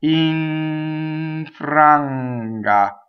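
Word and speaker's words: infranga: So the N actually assimilates and disappears right into that. So iŋfranga. See what happened? It's right here. It never goes in the normal position.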